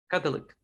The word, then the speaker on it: Catholic: Catholic. No, Catholic. Catholic. No. La sílaba del medio desaparece. Catholic. Catholic. La O desaparece. Catholic. Le pones el acento a la primera y la segunda desaparece.